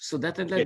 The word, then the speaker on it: Sudetenland: That's how you say it in English, Sudetenland, you know, from the German part of the Czech Republic.